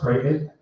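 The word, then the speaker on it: Crichton: didn't know existed called Kraton Avenue in Dartmouth. Uh when you look at it it seems like it says crit but it's pronounced Kraton.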